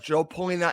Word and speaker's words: João Palhinha: Do you think the signing of João Palhinha, and I think I'm saying it right because this is how he said it, is a sign of